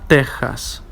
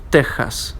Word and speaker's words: Texas: are Mexico and Texas, which in Spanish are pronounced especially as Mexico, Texas, okay, with the aspirating phoneme, which is equivalent to an English H. Mexico, Texas, okay?